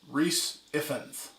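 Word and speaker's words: Rhys Ifans: and then we got not gonna say his name wrong even though i'm part welsh rhys effense as dr connors aka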